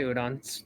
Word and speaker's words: Udon: Like you you can just you can just say Udon. It's the easiest for everyone.